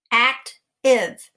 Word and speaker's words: active: we say active act the a is a short a sound the i is a short i sound we mark out the e and we have the